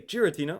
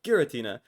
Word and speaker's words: Giratina: I think whether you say Giratina or Guiritina, they're both completely fair.